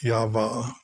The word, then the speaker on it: Yahweh: Or if you pronounce it in Hebrew, I believe it's Yavah.